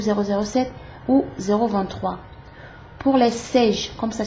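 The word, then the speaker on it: Saige: Pour les Sage, comme ça s'écrit, téléviseur de marque Sage, S-A-I-G-E, essayez le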